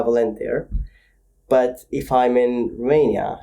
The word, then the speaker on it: Volentir: Valent's the Romanian way of saying it. And then there's how I say it to English people. So if I'm in England, I would say my name is Valente.